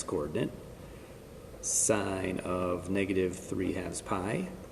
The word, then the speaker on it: sin: don't call it tan you still pronounce it the full word sine cosine tangent that is the same